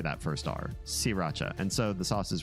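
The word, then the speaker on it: Sriracha: this is Thailand and in Thailand they don't pronounce the r because it's it's hard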